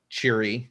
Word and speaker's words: Cheery: And they give it the name of Cheery, so it rhymes with Imri.